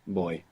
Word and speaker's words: voy: Voy. Voy. The beginning bit of voyage. And you're mostly going to hear it pronounced more like a soft B. Boy.